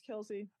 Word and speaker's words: Kelsey: Kel you told me it was Kel Nikki you said it first it's cap it's Kelsey I took your word and then the dad came out and said I saw Kelsey it's Kelsey I promise promise because if you